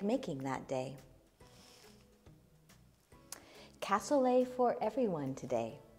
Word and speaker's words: cassoulet: like making that day cassoulet for everyone today if you say it right it rhymes Castle a is a common